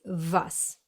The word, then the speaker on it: was: So in English it's what, while in German it's was.